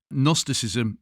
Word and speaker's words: gnosticism: extra work on this gnosticism is with a silent G at the beginning it is not an N yes like gnome yes very important otherwise you